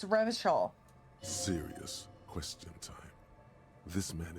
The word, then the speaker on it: Revachol: But someone has to stay strong for Revocol. He pronounces Revocol with a hard K, unlike other people. Yeah, I was like, he says it wrong, right? It's Revachol.